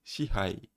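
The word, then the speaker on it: 支配: Que vous l'avez, c'est shihai.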